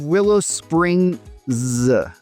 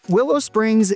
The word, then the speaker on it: Willow Springs: Then at number 4, we have Willow Springs. I say that because you'll hear it pronounced both with and without that final S, and different people have different explanations for why.